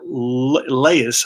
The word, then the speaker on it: Leius: a ground ball third baseman beat to scott leius I believe this is how you pronounce his name picks it up fires across